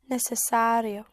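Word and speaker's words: necesario: all words in English almost all words in English ending in ari like necessary vocabulary contrary. So ari in Spanish becomes ario like necessary would be necessario necessario. So it is not necessary for me.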